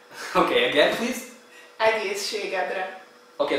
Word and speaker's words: Egészségedre: Egészségedre. Okay, again please. Egészségedre. Okay, the first part, egész. Egész. Egész. Ség. Ség. Edre. Edre. Egészségedre.